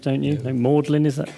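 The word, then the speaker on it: Magdalene: Rowan Williams, who is Master of, you've got to pronounce it differently between Oxford and Cambridge, don't you? No, Magdalen, is that Magdalen?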